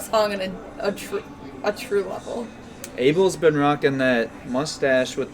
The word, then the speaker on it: Abel: Abel's been rocking that mustache with the red suit for a hot minute now. Who? Abel.